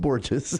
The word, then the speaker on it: Borges: It's pronounced Borges.